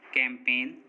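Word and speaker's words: campaign: जी silent, N से पहले आया जी हमेशा साइलेंट होता है, मतलब अगर किसी वर्ड में एन से पहले जी आएगा तो जी साइलेंट होगा। जैसे design, resign, sign, कैंपेन, foreign, no, इन सभी वर्ड्स में देखिए एन से पहले जी आ रहा है और एन से पहले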